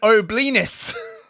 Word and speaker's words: O'Blenis: This is the guy, Gavin O'Blenis. Rhymes with Gavin O'Penis.